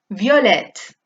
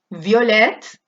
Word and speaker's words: violette: Aquí acaba en E sin acento, por lo tanto la E no se pronuncia, pero lo de delante sí, ¿vale?